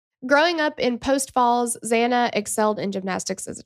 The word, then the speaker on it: Xana: You want to tell us about Xana? Yes. Xana, who I love this, she would tell people that her name was spelled like Xanax without the X at the end.